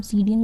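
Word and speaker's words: Psidium: है गवावा scientific name सीडीएम गजावा होता है ठीक है सीडीएम से आपको सीडी याद रखना है पी साइलेंट है याद रखना पी साइलेंट है सीडी बोलेंगे इसको तो गवावा इकनो होता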